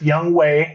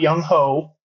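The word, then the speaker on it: Younghoe: that young way and it's pronounced young way not young ho young way coup is on my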